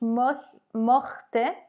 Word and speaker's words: mochte: Attention à la prononciation. Ich mochte, ça a la valeur de R hein, en phonétique, si on veut.